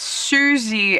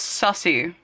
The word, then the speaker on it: Suzy: How can he mispronounce Suzy as sussy? Suzy as in Suzie.